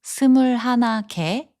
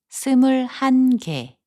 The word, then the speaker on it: 스물한 개: So instead of saying 스물하나 개, we should say 스물한 개.